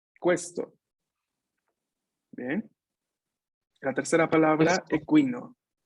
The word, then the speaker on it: questo: Atención, aquí es questo, ¿no? La U se pronuncia, questo.